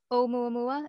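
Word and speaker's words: ʻOumuamua: Now, can you tell us about, it's Omuamua, is that how you say it? Right.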